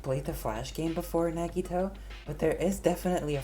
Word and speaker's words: Nagito: It's like Nagito, not Negito.